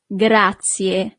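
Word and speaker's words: grazie: Thank you is gracia. Gracia. So, you really need to pronounce the last letter E in English, but the letter E in Italian is E.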